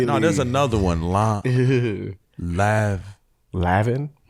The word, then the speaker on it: Lanvin: Lavin. It's another one. I want to say they don't enunciate the end.